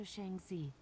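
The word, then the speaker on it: Shang Xi: Speak to Master Shangzi. He will tell you what comes next. Shang Z. Okay, I was mispronouncing the Z part.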